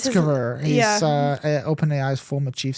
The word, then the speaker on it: Sutskever: it's I can't Ilya pronounce his- Sutskever.